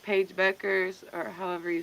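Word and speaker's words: Bueckers: notice now when it comes to like Paige Beckers or however you say her last name is a little confusing.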